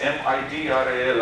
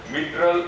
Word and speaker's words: mitral: Those two types of cells will be the tufted cells and mitral cells, M-I-T-R-A-L. Again, pronunciation can be either mitral or mitral, whatever you can pronounce.